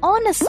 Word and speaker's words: honest: an hour and an honest man but why because even though these words begin with a consonant the letter h is silent so the words begin with a vowel sound the vowel sound of